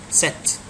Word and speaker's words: cet: We can't say ce followed by a vowel. It will be a problem when you pronounce ce followed by a vowel. So, you need to put a consonant in between to separate the two sounds.